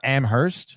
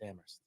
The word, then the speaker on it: Amherst: UMass Amherst that's Amherst Amer it's it's not Amhurst it's amst you freaking Boston people with your [ __